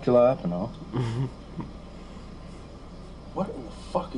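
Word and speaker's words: jalapeño: Ricky, Jay's silent. The J's like an H, Ricky. Jalapeno. Not jalapeno.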